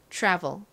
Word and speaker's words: travel: 소리가 한 방울 들어가죠 그래서 트래블 보다는 trav travel 이렇게 살짝 소리가 들어가고 트라이가 아닌 Try try 이렇게 발음이납니다 트의 의미가 뭐죠 시도 하다 시험삼아 해보다라는